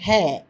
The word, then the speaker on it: हाँ: हाँ என்ற சொல்லை பாருங்கள். அதற்கு மேலே அர்த்தச்சந்திர புள்ளி உள்ளது. அர்த்தச்சந்திர புள்ளி இருக்கும்பொழுது அதாவது மூக்கு துவனி வர வேண்டும். நேசல் சவுண்டு அது வர வேண்டும்.